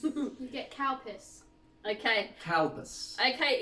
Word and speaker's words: Calpis: Be very careful when pronouncing this. It is Calpis.